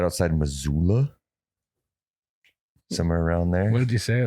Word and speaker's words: Missoula: But I think it was right outside Missoula. Somewhere around there. What did you say like that? Because that's how they say it. Missoula.